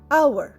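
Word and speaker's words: hour: আওয়ার এইচ ও ইউ আর আওয়ার আওয়ারে H silent আওয়ার মানে আমরা কি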